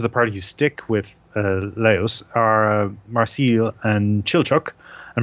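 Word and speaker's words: Laios: up every time because I keep thinking it's Laois, which is a county in Ireland. Because it's almost spelled the same, but it's no, it's Laos. Laos.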